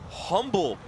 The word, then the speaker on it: Humble: class of 2025 from Humble Texas where's Humble Texas humble you say you say with a silent h of Texas it's in the Houston